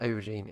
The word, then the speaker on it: aubergine: It's not spelled an O, it's spelled an A, by the way. But an aubergine is basically what we call a eggplant over here.